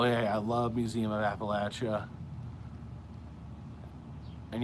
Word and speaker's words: Appalachia: I love Museum of Appalachia and yes I'm saying it right Appalachia that's the correct the correct the correct pronunciation alesis how people who say that live in appellate Appalachia say it we're I don't know